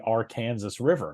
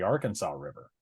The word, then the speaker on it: Arkansas River: That river is pronounced by locals as the Arkansas River, not the Arkansas River.